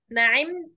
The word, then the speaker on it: نعمت: تاني، يا أيها الضيف العزيز نعمت. ايه مش حضرتك؟ نعمت. ايه مس نعمت. نعمت. مفيش مد في الآخر، هي فتحة بس.